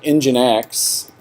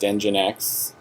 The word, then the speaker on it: nginx: what else is there engine x nginx pronounced nginx is another one that's very